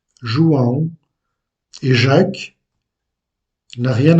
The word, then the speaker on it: João: Jean en portugais est João. João.